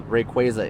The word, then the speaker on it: Rayquaza: Also, Rayquaza is how you pronounce it.